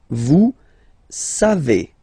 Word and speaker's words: savez: Then vous savez, classic ending for vous, E-Z, but then phonetically it's E, vous savez, savez.